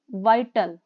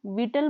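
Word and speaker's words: vital: it plays a अ बोलना है वाइटल इसको प्लीज विटल मत बोलना मोस्टली इसको विटल ही प्रोनाउंस करते हैं प्लीज इसको वाइटल बोलना है और इसको आपने नोट डाउन कर लेना कि इस वर्ड को हमने वाइटल बोला मींस इंपोर्टेंट रोल इन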